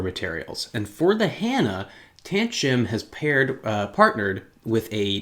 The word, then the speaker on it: Tanchjim: a look at the tant jim hanna doing my best to pronounce that brand name but i think it's tan shim this is a single